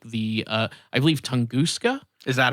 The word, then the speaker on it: Tunguska: So it is interesting when you go back and see something like the I believe Tunguska. Is that how you say it? I think I determined that it was pronounced that way.